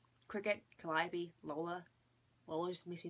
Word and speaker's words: Calliope: oh, my mom told me how to pronounce this. Calliope, Cricket, Calliope, Lola.